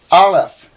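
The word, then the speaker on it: אלף: bait ba resh or alef they actually say it's a silent letter and you don't uh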